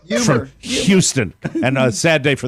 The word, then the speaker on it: Houston: I hear Mike say words such as Houston and humor as Houston and humor. The HU sound is replaced with what I hear as a Y sound.